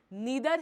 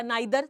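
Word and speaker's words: neither: नॉर आई R responsible नीदर ही या नाइदर जो भी आप प्रोनाउंस करते हैं ही नर आई एम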